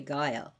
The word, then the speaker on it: Gaia: So but she's not pronounced ga in Greek. So if you go to Greek and say Gaia, they may not they may not even know what you're talking about to you describe her.